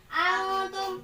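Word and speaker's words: أنتم: Misal, antum, ini antum, nggak boleh bacanya antum, nggak boleh bacanya antum, nggak boleh. Bacanya dengan cara antum, memasukkan dengan dengung selama dua harokat.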